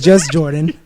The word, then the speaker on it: JUSJRDN: You got to spell this one I out, was too. gonna say my name is just Jordan, and this is the artist in me, and it's a little fucked up. I understand. It's JUSJRDN. We'll say it one more time.